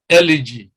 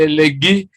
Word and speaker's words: elegy: Elegy. Now a lot of people mispronounce this. They say elegy, but that is not the actual pronunciation. This is elegy.